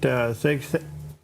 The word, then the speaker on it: Hegseth: It is the confirmation hearing of Pete Hegseth.